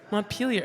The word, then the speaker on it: Montpelier: The other one that confuses me is Montpellier. How's that pronounced? Montpelier.